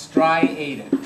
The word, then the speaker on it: striated: It's pronounced striated.